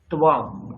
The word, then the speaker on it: त्वम्: এটা লেখা আছে ত্বম, কিম ত্বম। যেই ত্বম এই উচ্চারণটা করবেন তখনই বুঝবেন ও আচ্ছা এটা তো মধ্যম পুরুষ আছে। আর আপনি যদি তম বলেন আপনার সামনে দুটো অপশন ভেসে আসবে, এই কোন তম।